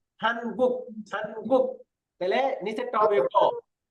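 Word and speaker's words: 한국: প্রথমটা দেখেন, প্রথমটার মধ্যে আপনি গু বা খু বললেন, পরে নিচে যখন থাকবে অবশ্যই এটাকে ক উচ্চারণ করতে হবে, গুক গুক। এটা হলো গুক, হান গুক হান গুক।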